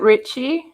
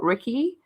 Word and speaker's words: Ricci: I love that movie so much with, Christina Ricci and is it Richie? Oh, we're not even going to know because, that's how apparently you meant to say it, but it's spelt Ricky.